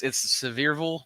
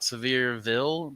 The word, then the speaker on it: Sevierville: It's Sevierville, not Sevierville, but people always say Sevierville.